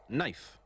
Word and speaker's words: knife: Hollow h o l l o w correct knife silent letters kify k n i f e correct